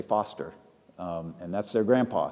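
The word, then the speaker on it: Forster: named Foster batterham it's it's spelled forer so a lot of people say forer but all the people from Dorothy's family say Foster um and that's their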